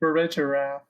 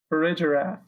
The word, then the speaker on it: Farigiraf: Farigiraf. Farigiraf. See, I go with the G instead of the J. Farigiraf.